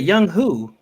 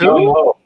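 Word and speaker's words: Younghoe: It's clearly Young Ho. What did I say? You said Young Who? It's Young Ho. It's Ho.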